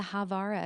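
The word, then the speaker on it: Haavara: I think you mean the Havara agreement. It sounds like Havana, but it's spelled H A V A R A.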